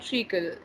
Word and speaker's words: Treacle: So Yes, they're two fluffy and cute Pomeranians called Paddington and Treacle. Am I pronouncing yes, that right?